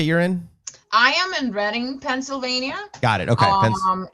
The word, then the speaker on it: Reading: me reading reading or it's pronounced reading um like reading um so they were